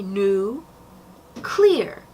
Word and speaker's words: nuclear: So we've got new and then the actual word clear. So you could just say new clear, although many would say